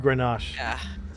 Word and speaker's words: Grenache: garna uh garnach but it's uh all right grenache but it's uh in spanish it's uh garnacha